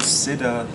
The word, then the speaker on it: Cider: Genau, Apple Cider. Spricht man das Cider aus? Ich bin ja aus Deutschland, ich sage Cidre.